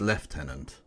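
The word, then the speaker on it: lieutenant: yes uh oh sorry I mispronounced it you not it's left tenant my bad I been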